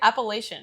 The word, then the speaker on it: Appalachian: This festival is on a hill in the Appalachian Mountains. Yeah. How do you say it? Appalachian.